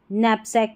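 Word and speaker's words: knapsack: जैसे इसको कनाइट नहीं नाइट पढ़ते हैं, कनाइफ नहीं नाइफ पढ़ेंगे, क नैपसैक नहीं नैपसैक पढ़ेंगे, ठीक है.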